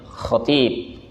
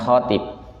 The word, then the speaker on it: khatib: bacanya itu kalau nyebut dengan dialek aslinya itu Khatib bukan khb Khatib t-nya yang panjang ya kita itu kan kadang